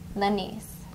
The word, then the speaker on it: Lanice: Empress Lanice. Lanice. Lanice. Now listen to how I'm phrasing it.